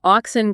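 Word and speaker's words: auxin: Oxin. Okay, that again. Oxin. A U X I N.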